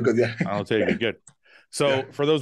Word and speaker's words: Alotaibi: Is that how you pronounce the last name? Yeah, Alotaibi, good, yeah. Alotaibi, good.